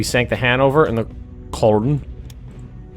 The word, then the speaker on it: Köln: We sank the Hanover and the Köln. Köln? I think that's pronounced like an E.